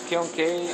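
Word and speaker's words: kiln: do you pronounce that Kil k i l n Kil K okay so this is uh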